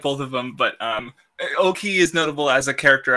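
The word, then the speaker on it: Ouki: Oki, yes. I always pronounced it Ueki, but yeah.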